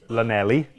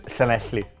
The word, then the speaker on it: Llanelli: say that would be Lanelli. Lelent, yeah. But in Welsh pronunciation is Llanelli.